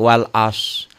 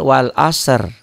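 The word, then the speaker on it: والعصر: huruf mati duluan nih jadi ada dua huruf mati satu huruf mati yang nyata kedua huruf mati dalam bunyi tuh orang banyaknya bacanya Yang pertama doang seperti Wal as padahal Wal asr gitu fil ardhi banyak orang yang baca fil fil ARD Barakallah Kang Ari Ayo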